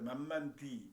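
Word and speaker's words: 慢慢的: 그게 바로 한자로 쓰면은 만만적 이렇게 쓰는데 이 땅지자도 써요. 만만디 만만디에 만만지 땅지자 그게 디로 발음하거든요.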